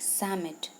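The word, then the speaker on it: Psammead: is silent you okay that's why it is pronounced like summit fine so Sam it was a sand fairy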